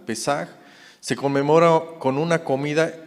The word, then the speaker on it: Pesaj: Y bueno, la Pascua hebrea, que ya vimos que es Pesaj, es P-E con acento en la E, S-A-J, Pesaj.